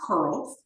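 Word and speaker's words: CRLS: honor of her and the acronym C R LS is pronounced curls and it signifies her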